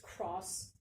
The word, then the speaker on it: Krauss: up to about, according to a physicist, Lawrence Krauss, something like that, it's spelled K-R-A-U-S-S, I think it's German, but I don't really know how to pronounce it.